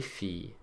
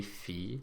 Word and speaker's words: filles: Now notice that the S that we've put on the end of each of these words to make them plural, as we've already seen, is silent. Les chiens, les filles, les hommes.